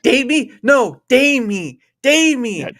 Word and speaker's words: Damie: Of course, I get to be joined by, do you say, how do you say it, Dammy or Dami? Damie. Like Damie? day me. Yeah. Damie? That sounds a little too close to date me at that point.